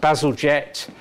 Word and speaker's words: Bazalgette: So linking onto that, as you all know, many of you, in this country pronounced Bazalgette, was the guy who